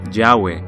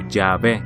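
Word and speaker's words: Yahweh: y h wv h nadie sabe realmente cómo pronunciar esto porque estuvo fuera de uso durante tanto tiempo pero muchos creen que la pronunciación más probable sería llave o llave el nombre de jehová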